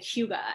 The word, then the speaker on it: hygge: Like cryo and like go into saunas and like even in Denmark they have the whole saying, it's pronounced like hygge, and it just means, you know, to just